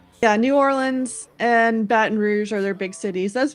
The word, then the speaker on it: Baton Rouge: Baton Rouge. Baton Rou. That's a French name.